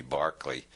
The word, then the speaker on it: Berkeley: of Berkeley is named because Americans don't know how to pronounce Irish names it should be Barclay Bishop Berkeley proved the